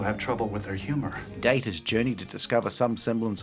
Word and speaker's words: Data: Data's name ended up being pronounced the way Patrick Stewart pronounced his name, a British pronunciation, which ended up cementing